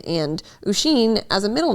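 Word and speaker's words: Oisín: My name is Usheen. Sister-in-law calls me or, depending on how hard she tries, but my name is pronounced Usheen.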